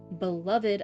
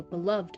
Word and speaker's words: beloved: Beloved of Sir Salomar. Why? No. Beloved of Sir Salomar. I always want to say beloved, but it's not. It's beloved, right? It's said with uh two syllables, not three.